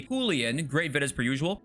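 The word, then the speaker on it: Julián: Alfredo says the way the right way to say Julian in Spanish it would be julan great vid as per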